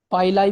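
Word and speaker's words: pili: इन्हें लोग पाइलाई भी पढ़ देते हैं, कुछ लोग पीली भी बोल देते हैं। स्पेलिंग इज PILLI, तो यू कैन say sorry, you कैन से पाइलाई और यू कैन से पीली।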